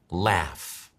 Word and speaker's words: laugh: Ahora te lo voy a pronunciar yo. Laugh.